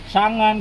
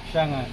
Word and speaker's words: Changan: Oh, ano, paano pag-pronounce, pre? Shangan ka. Shangan.